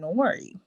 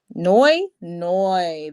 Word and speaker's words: Noi: Nori. I think that's how you say her name. Nori. Noi.